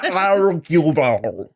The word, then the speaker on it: Hercule Poirot: Hercule Poirot. You really have to swallow a lot of it. Hercule Poirot. Amazing. Perfect French pronunciation.